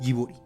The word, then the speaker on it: Ghibli: animación sin mencionar a Studios jiburi Sí así se pronuncia correctamente la compañía de animación